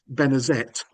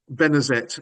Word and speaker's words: Benezet: So Benezet became Benezette and we know that he pronounced the T at the end of his name in later life because sometimes he spells